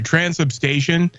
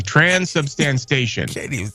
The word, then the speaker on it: transubstantiation: it's spelled D.O.G I spelled it and it's pronounced dog see I told you I'd get it so just so we're clear transubstation substances okay transubstantiation which is dude you didn't say it either